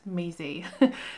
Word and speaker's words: Meze: Thank you to the person who taught me how to say it, Meze.